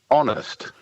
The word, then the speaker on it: honest: We go down to H, honest, which is spelt with an H.